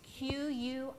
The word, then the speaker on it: quinoa: It's Quinoa. I know. Go figure.